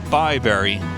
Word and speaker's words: Bibury: So, Bibury. That's how it's pronounced.